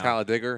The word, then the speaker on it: Talladega: in DBR on adiga for now holla digger how they pronounce it down there now with that we